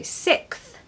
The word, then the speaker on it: sixth: it really fast sick now you need to very cleverly add a th on the end so sixth 6th that's it that's